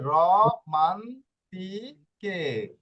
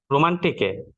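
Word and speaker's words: romantiche: আর এখানে যে কে আক্কাটা রয়েছে, আক্কাটা মিউট থাকবে, আক্কার উচ্চারণ হয় না, মিউট থাকবে, এটা এটা ক বানানোর জন্য আসছে, করেন।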